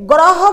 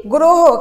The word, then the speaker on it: গ্রহ: এখানে গ এর সঙ্গে একটি রফলা রয়েছে, তাহলে আমরা শব্দটাকে গ্রহ বলি না, কি বলি, গ্রহ।